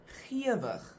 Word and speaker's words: gewig: In that case, that first part is pronounced ge. But in this case, the word looks the same, the second part, but it's pronounced gewig. Again, there's no rule. You just have to learn the pronunciation.